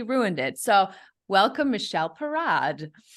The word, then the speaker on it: Parad: now I completely ruined it so welcome Michelle parad it's it's a perfect pronunciation thank you having it's it's a pleasure